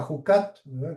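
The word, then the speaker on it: חוקת: Como les he dicho en la transliteración, acá dice chucat, porque los en inglés esto, el chucat se pronuncia jucat. En español lo decimos con j.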